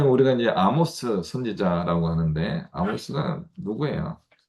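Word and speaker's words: Amos: 보통 우리가 이제 아모스 선지자라고 하는데 아모스가 누구예요? 그래서 이제 아모스라고 하는 명칭은 이제 미국식 발음으로 가면 에이머스라고 하는 발음으로 가는 것 같아요.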